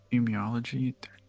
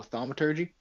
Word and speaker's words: thaumaturgy: Emiology? I don't know how to pronounce that. Oh, thaumaturgy?